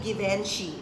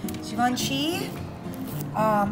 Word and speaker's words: Givenchy: That's how you pronounce it, hindi Givenchy. Givenchy.